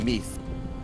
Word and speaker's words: Meath: the top of my shield wall mine is pronounced Meath okay catch it plays the kingdom of nice